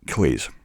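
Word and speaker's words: clothes: Because in Glasgow, lower working class, I pronounce it clays. I'm wearing, where'd you get your clays from? So you might have to take a shortcut on this one, saying like close and close the door, or close, but trying to pronounce the TH and the Z sound, I have to say it's almost impossible for me.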